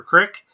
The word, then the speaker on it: creek: florida i want to know if you say creek or crick if you're in texas i want to know